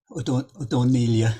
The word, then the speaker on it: Ó Donnaíle: Ó Donnaíle? Ó Donnaíle, or something like that, they say in Donegal.